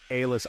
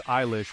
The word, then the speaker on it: Eilish: Billie Eilish pirate Baird O'Connell, pronounced Eilish Eilish, was born on December 18, 2001.